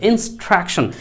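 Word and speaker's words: instruction: ইনিস নয়, উচ্চারণটা করবেন ইনের সাথে সাউন্ডটি মিশে যাবে, ইনস্ট্রাকশন।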